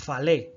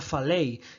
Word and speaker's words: falei: Ahí tenemos ese falei, no se dice falé, sería falei, y no se dice cantó, sería cantou.